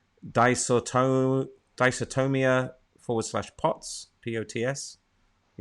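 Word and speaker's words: dysautonomia: patience with and i'm going to probably prom pronounce this wrong disorton dysotomia forward slash pots p-o-t-s are you familiar with that no no don't ask her what dicertonium dysotomia d-y-s-a-u-t-o-n-o-m-i-a i'm not sure what that is i'm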